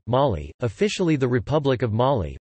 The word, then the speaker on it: Mali: Mali, listen, French pronunciation, Mali, officially the Republic of